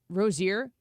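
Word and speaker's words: Rozier: Rosier.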